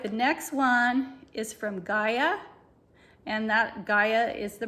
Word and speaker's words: Gaia: All right, the next one is from Gaia, and that Gaia is the brand, and it's spelled G-A-I-A, and it's called Microbe Cleanse Liquid Phytocaps.